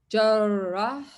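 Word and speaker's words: جرّاح: but it has a shadda here. Remember? Jarrah.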